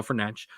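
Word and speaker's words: Fernandes: Bruno fernan great uh I'm going to do my best to pronounce his the actual correct way uh not the way 99% of us mispronounce it but Bruno fanch was great uh and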